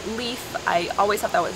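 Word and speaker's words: Leif: The next name, we actually have a friend with this name, the name Leaf.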